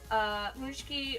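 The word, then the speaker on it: Pączki: Then we have Paczki rhymes with chunky, kind of.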